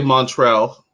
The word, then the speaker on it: Montriel: your first name again so I say Montrell the way that Jade pronounces montréal and I thought my